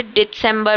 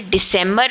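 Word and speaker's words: Dezember: डे दिसंबर आपने सुना मैंने कैसे डिसेंबर बोला मैंने दिसंबर नहीं बोला दिसंबर का मतलब होता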